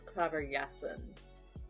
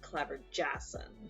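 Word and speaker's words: Klaverjassen: with that The The J make in Dutch the A J makes like a yes sound right so it's clever yesen rather than like clever Jason I'm just trying to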